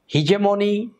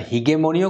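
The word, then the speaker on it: hegemony: একচাটিয়া কোন কিছুর একটা জোর থাকা সেটা আর হিজেমনি বা এটার উচ্চারণটা আপনারা হিগেমনিও করতে পারেন বাট বহুল প্রচলিত হচ্ছে হিজেমনি কারণ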